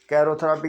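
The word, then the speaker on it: chirotherapy: कैरोथेरापी की स्पेलिंग है CHIRO थेरापी, Cairo.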